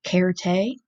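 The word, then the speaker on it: certe: cared a cared a you can hear also that I'm pronouncing my C's like K's that is also a Latin thing cared a means certainly so spell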